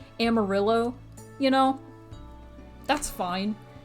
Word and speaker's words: amarillo: yellow in spanish it's amarillo amarillo and i don't expect anybody to say amarillo like exactly like how it's supposed to be said in spanish especially if you're speaking